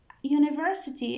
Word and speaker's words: university: Is there university in Sydney? University. It's pronounced like you. University. So it's a sound, a consonant sound.